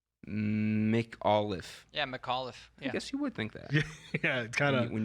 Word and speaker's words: McAuliffe: say the last name McAuliffe yeah McAuliffe that's Cal since last name McAuliffe huh you wouldn't you wouldn't think so by the spelling Mik Olaf yeah McAuliffe kind of